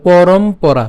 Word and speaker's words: পরম্পরা: ঠিক আছে এবং পরম আমরা এখানে ম পর্যন্ত উচ্চারণ করব পরম তো বাকি অংশ থাকবে পরা তাহলে পরমপরা পরম্পরা সোজা কথা ঠিক